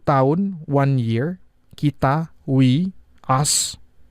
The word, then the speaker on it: tahu: I'm gna explain a little bit about tahu. There's two. If you say if you pronounce it with the H letter, you will pronounce it as tahu.